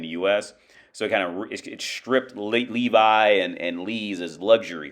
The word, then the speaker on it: Levi's: Lee Wrangler shop from the Levi, or they pronounce it Levis, because it's just how their language is.